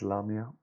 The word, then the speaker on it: Lamia: pronounced that wrong sorry it's not lemur it's lamia then this card says when